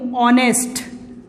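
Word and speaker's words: honest: तो कॉन्सोनेंट है, लेकिन कुछ वर्ड्स में एच जो है साइलेंट हो जाता है, एच की साउंड नहीं आती है उसमें। जैसे मैं ये वर्ड्स लिखूं, ऑनेस्ट, अब देखो ये एडजेक्टिव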